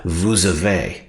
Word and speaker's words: vous avez: avez, you pronounce it vous avez, right? That liaison connects the two words.